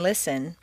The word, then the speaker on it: listen: Just as you don't say the T in listen, the double T in better is pronounced D, better.